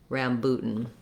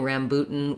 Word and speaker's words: rambutan: be helpful for me to say booten rambutan and i'm even thinking about pairing rambutan with prime minister putin because that'll help me